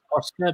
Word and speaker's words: Oscar: I know it's pronounced Oscar because we've had a conversation, so I know I'm going to get that right at least.